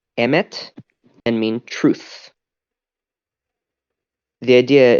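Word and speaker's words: אמת: wrote on its forehead three letters aleph meme stuff which are pronounced Emmett and mean truth the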